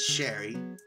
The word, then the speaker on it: Sherry: name Bella Walt doc Sherry not Cherry as some may want to call her it's Sherry a 12 Carmen Mo